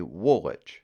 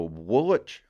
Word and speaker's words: Woolwich: Woolwich makes the list because there are at least 2 acceptable ways of pronouncing Woolwich. The old Mainers would say Woolwich. You remember old Bert from down in Woolwich. Yep, so Woolwich or Woolwich.